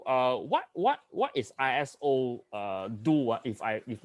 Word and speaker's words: ISO: it comes from a greek word means equal iso so it should be pronounced as iso equal so yeah correct so